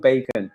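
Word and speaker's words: Bacn: It's called Bacon, B-A-C-N, pronounced as in bacon, right?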